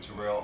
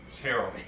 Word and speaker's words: Terrell: And we're just here and want to talk about the little Iyanla Fix My Life little interview with Terrell Owens. Terrell. See, I was saying the man's name wrong.